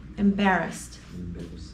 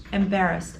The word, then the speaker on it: embarrassed: situation embarrassed Ed embarrassed it sounds like I'm pronouncing a t but I'm actually that's how I pronounce Ed after a voiceless consonant embarrassed embarrassed I feel embarrassed I'm